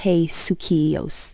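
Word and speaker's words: ἡσυχία: should strive to obtain the key word in the scripture is hakia or pronounce as hey suos this is typically translated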